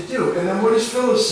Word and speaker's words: Phyllis: dialogue what is this thing is but is pronounced Phyllis those PHY ll is Phyllis is a name